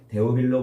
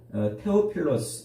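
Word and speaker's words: Θεόφιλος: 말에요 테오필로스 이렇게 분리거든요 우리말로는 대우빌로 그러지만 헬라어 발음으로는 태호필로스 이렇게 부른단 말이에요 그러니까 테오스 하고 필로스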